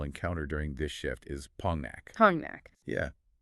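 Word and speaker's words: 폭락: Because if you look at the spelling, it essentially looks like pokrak. But because of Korean nasalization rules, which are basically designed to make speech flow more naturally without hard stops, the consonants blend together, so it is pronounced Pongnak.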